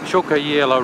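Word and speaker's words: Tjukayirla: That's Chukayela Roadhouse. That's the Aboriginal pronunciation. Absolutely nothing like how it was spelt.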